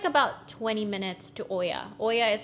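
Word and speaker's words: Oia: that um but yeah it's pronounced as IIA so um we are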